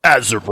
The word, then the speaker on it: Azeron: And then our buddies at, I think it's Azeron, if I'm pronouncing it right. Azeron. You got to say it with like the inflection though. Azeron.